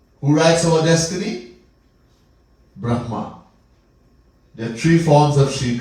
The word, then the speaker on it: Brahma: so a big difference have to be careful sometime when we pronounce there's a big difference between brah and Brahma all right anyhow so